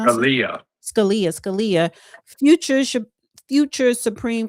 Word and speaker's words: Scalia: incorrect because they said um a young Anthony Scalle that's how you pronounce Scalia.